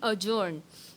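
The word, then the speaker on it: adjourn: तो इसी तरह से ADJ के जितने भी वर्ड हैं, स्पेलिंग रॉन्ग हो सकती है, अजर्न, जैसे मीटिंग अजर्न, कोर्ट अजर्न, इसमें भी डी साइलेंट है।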